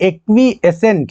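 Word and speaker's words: acquiescent: ये एक्वीएसेंट है।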